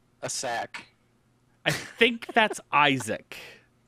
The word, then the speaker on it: Isaac: think it's ISAC Bill I'm quite certain that you'll find that's Isaac it can't be Isaac just spelling wise is a a c is saac I think you're doing it phonetically correct I think though that it is called The Binding of Isaac okay just so you